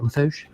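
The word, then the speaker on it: Lafourche: And am I saying it right, Lafouche?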